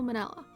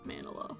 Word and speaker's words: Manella: Sal Manella. I am a director television. I think I was pronouncing it Manola before.